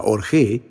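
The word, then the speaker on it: ὀργή: La palabra griega traducida como ira, sin ira, en este versículo es una palabra que se pronuncia orgé.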